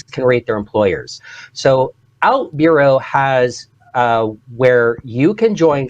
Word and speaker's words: OutBüro: So, and you pronounce it exactly like news, a bureau. So OutBüro.